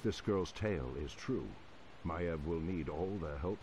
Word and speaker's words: Maiev: Maiev, that's how you pronounce it.